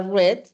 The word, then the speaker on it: read: como el verbo read Solo que su pronunciación cambia a red o como el verbo